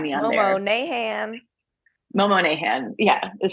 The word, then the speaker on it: Monahan: box um find me on there Mom Nan Momo nahan yeah is how it's pronounced like darbin um this is our first